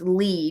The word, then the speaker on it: Lee: okay thank you Glenn it's Lee not lay Florida Lee thank you very bad